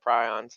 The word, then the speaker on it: prion: that it is this prion or prion. It's pronounced prion from the guy who made it, but some people call it prions. I've been corrected many times, so just choose whichever one you like.